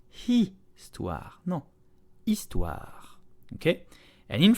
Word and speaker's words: Histoire: Histoire, very slow. Histoire. Histoire. The H is silent, so begin on the vowel. It's okay? This is not histoire, no, histoire.